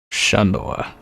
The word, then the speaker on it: Shanoa: Shanoa. That's how you're supposed to pronounce that in Japanese.